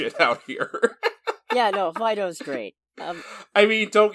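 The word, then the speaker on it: Fidough: in my life and its name is spelled f-i-d-o-u-g-h so it's fido so i don't know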